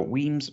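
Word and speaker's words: Wemyss: dream to drum so weems malts um w-e-m-y-s-s but i believe it's pronounced weems malts uh a small but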